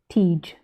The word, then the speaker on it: Tiege: to a new dimension my name is pronounced as tiege like taj but with an e ah tige okay thank